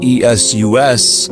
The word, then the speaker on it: Esus: pagan god Esus is pronounced just like Jesus.